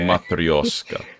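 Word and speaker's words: матрёшка: You gotta say it somewhat with a Russian accent for it to come out properly. Gotcha. Okay. Matryoshka.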